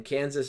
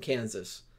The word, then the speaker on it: Kansas: stuck thus would provide we pronounce the last s in Kansas but not in Arkansas okay who had the